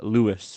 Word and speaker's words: Lajos: He's sometimes also uh Lewis Koshoot.